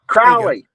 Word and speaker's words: Crowley: versus North Crowley or Crowley how do y'all pronounce it out in Texas Crowley Crowley like Crowley's Arkansas well you know Crowley uh